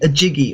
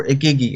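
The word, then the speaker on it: Igigi: of beans called the a jiggy or a giggy or it's i-g-i-g-i um however you want to pronounce it and they were said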